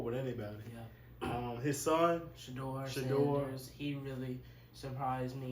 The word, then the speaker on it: Shedeur: So it's, how do you pronounce it? Shedeur Sanders, and then you got Shiloh Sanders.